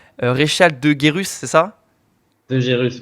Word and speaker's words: De Gerus: De Gérus, ouais. De Gérus, voilà, j'ai bien prononcé.